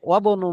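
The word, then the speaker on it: وابن: যেমন ওয়াবনু মুহাম্মাদিন, এবং মুহাম্মাদের ছেলে, তো ওয়াও শুরুতে আসার কারণে হামজার উচ্চারণ আর হলো না।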